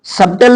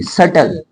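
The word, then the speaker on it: subtle: नहीं बोला जाएगा सटल सबटल नहीं बोलेंगे सटल सटल सटल मींस जटिल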